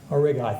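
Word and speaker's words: Aurigae: I can never pronounce this. Help me out. Origai, thank you.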